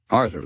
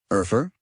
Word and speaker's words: Arthur: Arthur looked perplexed, having never considered his name as anything other than his name. It's just Arthur, he said, pronouncing the TH as clearly as he could.